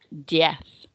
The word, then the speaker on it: diez: And then finally, the Z on the end of diez is a th sound as well, rather than a Z. So diez. So things to remember.